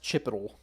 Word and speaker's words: chipotle: my go-to sandwich grant it's pronounced chipotle chipotle chipotle sandwich power kings i guess